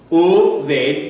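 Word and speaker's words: ובין: Uvein, u is the vav, but when you have a labio, when you have something, a sound coming off of the lips, the be, the pe, the mem, then it changes. It's not a v because it's awkward, so that changes to the u.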